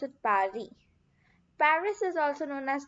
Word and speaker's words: Paris: The capital of France is Paris, but in French we pronounce it Paris.